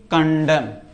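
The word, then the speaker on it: condemn: कंडेम कंडेम मतलब होता है निंदा करना।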